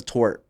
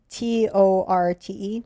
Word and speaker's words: torte: What's a tort? It's like a tart. Oh, like small. Yeah. Okay. Small, Tort. small. Wait. Is that how you pronounce it? Tort? Torte. Oh, tort.